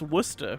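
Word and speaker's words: Worcester: say the word anemone it's pronounced Wooster really okay but yeah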